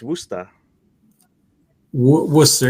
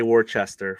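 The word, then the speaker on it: Worcester: that that's right right it's wer W wer yeah yeah so that is yeah that's a it's a colloquial uh pronunciation not gonna say was not gonna say Worchester for sure um I know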